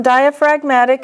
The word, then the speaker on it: diaphragmatic: See, diaphragm is a noun, diaphragmatic is an adjective. In diaphragm, the G is silent, but in the adjective, diaphragmatic, the G is pronounced.